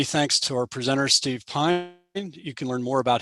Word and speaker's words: Pyne: friday again many thanks to our presenter steve pine you can learn more about his books on